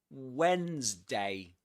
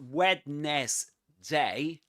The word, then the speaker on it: Wednesday: Wednesday. It's not wetness day but Wednesday.